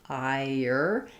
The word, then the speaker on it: iron: question about in iron, the R is silent. No, so it's silent if you think about it as it doesn't have ron. There's no r sound, ire. It's more of an vocalic R. So ire. So again, what I was showing you before, iron.